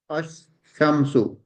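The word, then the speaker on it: الشمس: When we will pronounce, we will pronounce it ash. Then the second one will be shamsu. Ash, shamsu.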